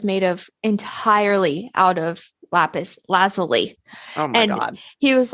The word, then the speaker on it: lapis lazuli: to do with um lapis lazuli at all no okay and I have I have information for you it's not pronounced the lapis lazuli really it's lapis lazuli okay that bothers me